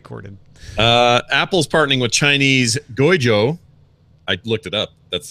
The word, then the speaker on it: Guizhou: Apple's partnering with Chinese Guizhou. I looked it up. That's the correct pronunciation.